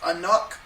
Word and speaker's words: Anouk: It's the same guys, Francois Simard and Joanne Carl Whistle, and I don't know how to pronounce her name. Apparently, it's Joanne's wife, Anouk Whistle.